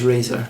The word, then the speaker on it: Riser: come on, that's pronounced razor.